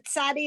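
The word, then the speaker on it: צדי: Remember the tsadi is the ts sound, Mhm. like tsetse fly or tsit.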